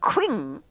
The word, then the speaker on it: Qing: You may be pronouncing it incorrectly, but Qing, Q-I-N-G.